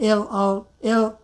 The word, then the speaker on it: little: But if the T sound comes at the middle of the sound, like L-I-T-T-L-E, L-I-T-T-L-E, like a little, little. People often say little, little, very soft T.